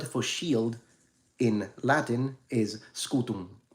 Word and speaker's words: scutum: shield in Latin is scutum right now it's written with an M but the m is not fully pronounced it's only nasalized like they do in Portuguese if you do classical so it's it's just